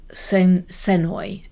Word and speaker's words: Senoi: And it was his time spent with a Malaysian tribe called the Senoi, is how you'd say it. It's spelled slightly different because they have a guttural language.